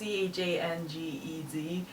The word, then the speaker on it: Changez: I think it's Changes. It's Changez.